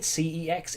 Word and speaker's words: CeX: Now, I know a lot of people will call it sex. I'm calling it CEX, even though they themselves call it sex, because it stands for computer exchange. There's a hard C at the start of computer, so it would be CEX.